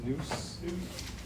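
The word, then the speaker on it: nous: Maria on the definition sheet you want to read an exagoras two principles number one so it's just pronounced noose immaterial unlimited unlimited world infinite Let's see parts so just means seeds and then maros means partos means similar.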